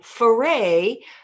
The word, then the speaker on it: Foray: pain in the sky foray pause pause pause rhymes with hooray now one more thing